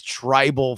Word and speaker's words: TRBL: How do we think this wants to be pronounced? Tribal, everyone? right? Wear tribal. Wear tribal. Okay, so it's sort of like Wear Tribal, but Wear W-E-A-R.